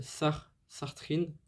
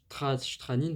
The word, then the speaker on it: Stranin: Kirill Sartrin, Stranin, pardon, Kirill Stranin au chant, Sacha Krok,